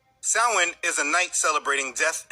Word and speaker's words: Samhain: Now, the word doesn't look how it's pronounced. Samhain is a night celebrating death and hell.